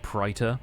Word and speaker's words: Praetor: Only person in the game who pronounces it Praetor. Luna Princess Rani. Morgott seems like the kind of person to observe an AE diphthong, you know?